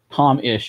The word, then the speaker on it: Thom: Is it Thom? Is that how you pronounce it? Or do you pronounce it more Tom?